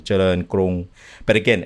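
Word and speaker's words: เจริญ: it in Thai and it starts with a Jochan. So it's Charoen. Correct. I say Charoen, but it's Charoen. Charoen. Okay. Yeah. Okay. Got so Charoen Krung. And if you say it like that, you'll get it.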